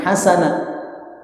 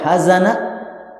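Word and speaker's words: حسنة: ya orang-orang yang berlebihan sama juga dengan hasanah hasanah itu artinya kebaikan Pak tapi kapan dibaca haz Ana itu artinya kesedihan.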